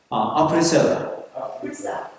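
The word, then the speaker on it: après cela: 노터와 아프리셀라. 아프리셀라라고 해야 되는데 아프리셀라 그 발음이 되겠죠?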